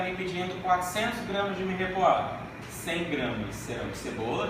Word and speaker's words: mirepoix: A pronúncia em francês é mirepoix, quando tem O e X no final.